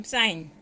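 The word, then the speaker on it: sign: Wednesday, over, knife, com, साइन. Wednesday में D, over में H, knife में के, कॉम में बी, साइन में जी. साइलेंट है.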